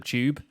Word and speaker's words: tube: the London Underground because I call it the tube and she says it sounds like it's spelled CH oo be excused you minecraft just